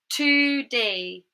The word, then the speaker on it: today: It's in the first syllable.